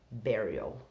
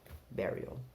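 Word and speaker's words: bury: enterro enterro é Perry apesar de ter escrito com u a pronúncia bé berry berry Então como que a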